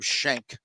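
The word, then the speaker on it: Schenk: names in golf Adam Shank that like it's it's spelled s-c-h-e-n-k but you know you gotta say shank like who that's like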